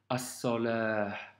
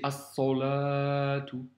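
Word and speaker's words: الصلاة: As-salah. Tu vois, tu retrouves la lettre sod. Donc c'est pas as-salah, c'est as-salatu. As-salatu. Bien penser à prononcer la lettre sod.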